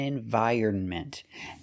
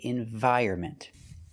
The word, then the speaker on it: environment: look at the dictionary, you'll find two pronunciations. You'll see environment and environment, and we don't say either one. The N is silent. So for this word, we cannot trust the dictionaries. We say environment.